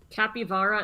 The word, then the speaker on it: capybara: three contradict each other capy vara is how it's said in spanish no it's good to